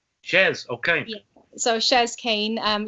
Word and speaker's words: Chez: so it's it's pronounced chess chess okay so shares kane um yeah a lot of people mix that up they think it's like the french way um yeah so